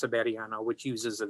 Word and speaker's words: Severiano: It's pronounced Severiano, which uses a V.